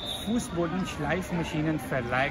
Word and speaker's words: Fußbodenschleifmaschinenverleih: Machines "Verleih" means to lend or rent something Fußbodenschleifmaschinenverleih means "a shop that lends floor sanding machines" Now I'll pronounce it faster.